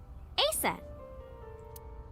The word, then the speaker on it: Aset: Anyway, um let's talk about Aset. Horus's mom is named Isis, but in ancient Egyptian, it's pronounced closer to Isa or Aset.